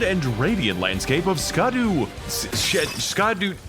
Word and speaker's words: Scadu: radiant landscape of scadu scadu it's pronounced shadow alus Beau yeah I was wondering like everybody's saying Shadow but it's WR S C A duu is back just trolling us it's SC no no no it's scad but it reads Shadow oh God why did